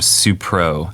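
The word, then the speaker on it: Supreaux: called the runoff Groove um suo and they spell it s u p r e a u x um very Baton Rouge yeah and so clearly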